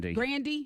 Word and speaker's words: Grande: It's not Ariana Grande. It's on Ariana Grande. Grandy. I still said it wrong.